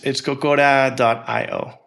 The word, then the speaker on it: Cocora: So think of like Coco as, the Disney movie. Yeah. And then add an RA afterwards and .io.